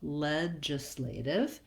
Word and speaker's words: legislative: This letter I says the I sound, or sometimes you might think about it as more of an sound, ledja or ledja. As long as it's short, lax, and unstressed, you'll be okay.